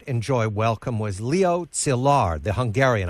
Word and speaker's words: Szilard: One of the scientists who emigrated who did not enjoy welcome was Leo Szilard, the Hungarian. I hope I say it correctly. That's correct, Szilard.